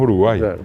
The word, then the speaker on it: Uruguay: uruguay y hoy decimos uruguaya así como paraguay es para guardiola está ahora la gente dice hasta paraguay ver la correcta pronunciación uruguay es el caracol de mar en realidad nasal uruguay y el guaraní